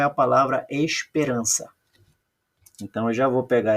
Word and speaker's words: esperança: o próximo aqui ó veja que quando eu falo Esperança eu falo mais alto a sílaba R Olha lá esperan então eu circulo a sílaba tônica e vejo que a sílaba tônica não é a última é a penúltima quando a sílaba tônica